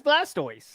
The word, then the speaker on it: Blastoise: on Blastoise there you go see how' you pronounce that that's Blastoise you're right okay but it's okay mirat you